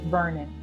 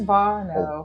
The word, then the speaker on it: Barno: and it's funny because when most people mispronounce Not your name. For some reason, they call you Vernon, but it's Barno.